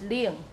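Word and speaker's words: 冷: And the tone in isolation is ling. But it becomes ling, ling.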